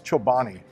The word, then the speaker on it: Chobani: When you say it wrong, you make me say it wrong. It's Chobani. Chobani Greek yogurt, buy two, get one free.